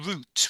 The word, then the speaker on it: root: Li lion um and I would say the root root um it kind of rhymes with boot the root to his